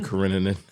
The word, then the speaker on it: Karenina: Anna Karenina. It's like Karen and Nina. It's like like Karen with an INA at the end.